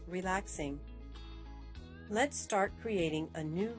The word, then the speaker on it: RELAX NG: designer in stylus Studio relax NG is pronounced relaxing let's start creating a